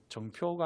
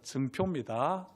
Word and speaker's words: 증표: 이 발음이 정표가 아니라 증표입니다. 예, 제가 경상도 사람이라서 증과 정이 이게 발음이 잘 안 됩니다.